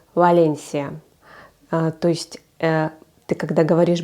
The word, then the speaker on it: Valencia: то что там написано например Валенсия как мы читаем Валенсия по-испански читается Валенсия То есть ты когда